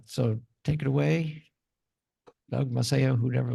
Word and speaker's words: Maceo: My name is Maceo, Maceo. I always have to spell it out.